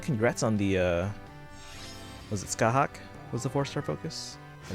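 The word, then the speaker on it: Scáthach: Alright, so we're starting with Scathach. There's a T in there, I think is silent.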